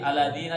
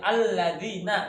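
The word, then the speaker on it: الَّذِينَ: Tadi aladina jangan aladina tapi alladina begitu. Tadi kan baca aladina kan? Alladina kan ada tasydidnya.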